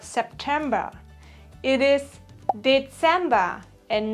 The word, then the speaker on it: Dezember: It is Dezember and not December.